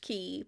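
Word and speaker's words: Cay: a little atmology tangent key is pronounced key but it's spelled c a y the word comes from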